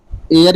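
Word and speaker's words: heir: एयर means होगा यहाँ उत्तराधिकारी, यहाँ यच साइलेंट है।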